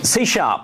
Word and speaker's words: C#: Okay, so C#. It's pronounced C#, and that's why I keep saying C#.